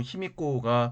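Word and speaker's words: 卑弥呼: 일본 서기에는 이런저런 사건들이 많이 뒤섞여 있는데 3세기에 야마데, 일본어로 야마타이라고 하는 나라의 여왕 비미오, 일본어 발음으로 히미코가 등장했다라고 삼국지 위지 동의전에 서술되어 있었습니다.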